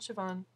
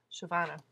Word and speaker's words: Siobhan: Sorry, not Siobhan. Shavana Mason. Trying to pronounce her name right. It's one of those Gaelic ones that has the B and the H that actually make a V sound.